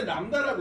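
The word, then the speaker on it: λ: 자, 읽을 때 람다라고 읽거든.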